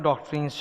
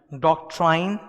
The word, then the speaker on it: doctrine: इसका pronunciation डॉक्ट्राइन नहीं होता, डॉक्ट्रीन होता है।